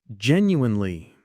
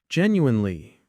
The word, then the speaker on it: genuinely: Jen U in Lee. Gen U in Lee. Hear that? Genu in Lee. Now try it with us. Genuinely. Slowly again. Genuinely. And one last time a bit faster.